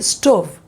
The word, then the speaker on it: stove: This pronunciation should be stove.